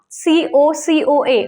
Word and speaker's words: cocoa: what is this cocoa c-o-c-o-a or coco so a is silent in the pronunciation the spelling is correct is c-o-c-o-a but when we pronounce it it is cocoa next b-o-w-l b o